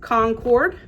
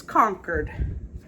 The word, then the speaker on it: Concord: The next word is, to me, is Concord, and I was told no, it's Concord.